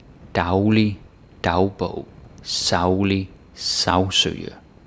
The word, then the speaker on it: daglig: So something like daglig, dagbog, saglig, sagsøge. On their own, it's day, and then say. But because they're prefixes, then they are pronounced dag and sav.